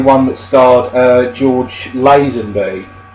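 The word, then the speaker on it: Lazenby: that starred uh George lasenby I believe it is pronounced lasenby it could be Len be I've heard it pronounced both ways um yeah really really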